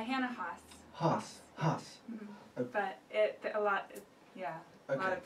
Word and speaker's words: Hanna Haas: Is that the correct pronunciation? Yeah, Hanna Haas.